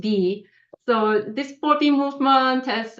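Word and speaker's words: 비: And this movement is called 4B movement, because South Korean word no is pronounced B.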